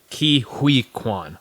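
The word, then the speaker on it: Ke Huy Quan: So the very first uh correction that I had is how to pronounce the name of the lead actor in Love Hurts. The kid it is uh Kiwi Kuan.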